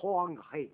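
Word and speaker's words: Hoang He: du fleuve jaune, le Hoangré, comme on dit aujourd'hui. Ça s'écrit H-O-A-N-G et puis H-E. Alors, ce qui est écrit H se prononce R en chinois.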